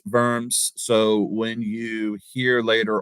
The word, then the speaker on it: Worms: English speakers because uh it looks like worms to us like the little creepy crawly insects in the dirt uh but it's actually it's pronounced verm so when you hear